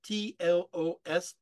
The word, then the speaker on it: Tlos: That's spelled T-L-O-S, Tlos, right?